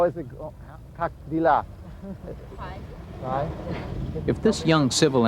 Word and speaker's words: дела: D-E-L-A. Okay. Как dela. Как дела? Okay. Dela. Make the stress on the last syllable.